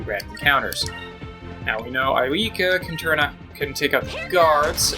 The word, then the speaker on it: Aika: It's probably supposed to be pronounced Aika.